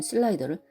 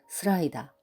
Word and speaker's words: 슬라이더: 일본식 발음에도 익숙해져 있는 슬라이더를 스라이다, 커브를 카브, 오버스를 오바스로라고 발음하는 이도 있다.